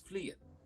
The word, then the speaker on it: Fleein: My name is Fleein. Fleein, okay. No, Fleein with an N at the end.